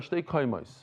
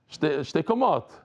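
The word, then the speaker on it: שתי קומות: says in the Gemara, shtei kaimais. Shtei kaimais is 2 human beings. Here, you throw them off shtei kaimais. Shtei kaimais. Shtei kamot. That's how you say it in Hebrew, shtei kamot.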